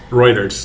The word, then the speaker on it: Reuters: Is it Roers or Reuters? Reuters.